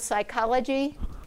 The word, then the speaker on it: psychology: sync is greek so if you look at the word psychology you have you have three right there the ps with the silent p um i i did